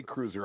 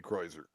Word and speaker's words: Kreuzer: Kreutzer. I think that's how they pronounce it. You say cruiser, I say Kreuzer.